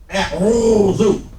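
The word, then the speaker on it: أعوذ: So the first word we have up here is a'udhu. How many syllables in that? A'udhu. 3.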